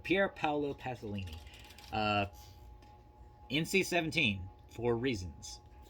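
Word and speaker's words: Pier Paolo Pasolini: uh pierre paolo pasolini i always mispronounce his name i keep trying to call him pablo pasolini but pierre paolo pasolini uh nc 17 for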